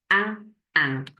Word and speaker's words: un: This one is I and N, like in English, but we need to have our French classes on because we don't pronounce it as in. It is un.